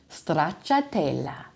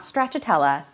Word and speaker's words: stracciatella: Another amazing cheese, but also an ice cream flavor, stracciatella. Stracciatella, not stracciatella, stracciatella. You really have to roll that R in the stracciatella.